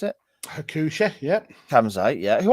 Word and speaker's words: Hakushi: Is that how you pronounce it? Hakushi, yeah.